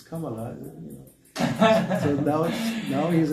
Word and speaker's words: Kamala: They don't even know how to pronounce. It's Kamala.